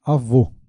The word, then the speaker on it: avô: O acerto circunflexo indica vogais com som fechado. Circunflexo, correto, né? Então, acento circunflexo é usado para vogais fechadas, como em avô.